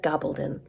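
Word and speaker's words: Gabaldon: one Voyager by Diana gobbledon I recently found out that's how she says her name I've been saying it wrong all along um I only just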